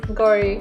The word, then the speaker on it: Gauri: Gauri.